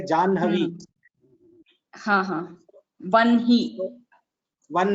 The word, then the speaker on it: Janhavi: Same way for Janhavi. What do you say? Jahnavi you should not say. You should say Janhavi.